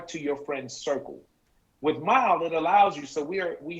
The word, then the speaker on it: MYLE: We talk about MYLE and the way it's pronounced MYLE, like when you drive, but it's with a Y instead of an I because it's all about you.